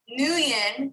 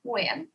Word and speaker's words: Nguyen: I try, but because the ng is like a you got to get it like the and then it's like sing, right? Like the best way it was explained to me is think of sing, but take the sound at the end and put it at the beginning.